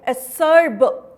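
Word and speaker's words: acerb: असर्ब का मतलब क्या होता है? बीटर. इसको हम लोग कैसे प्रोनाउंस करेंगे? असर्ब, ब लास्ट में, राइट?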